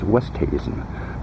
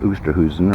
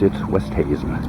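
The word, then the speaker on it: Oosthuizen: I may be one of the few men on the planet other than Louis himself who pronounces his name right. It's Westhuizen, not Oosterhuizen or Uzi, whatever. No, it's Westhuizen.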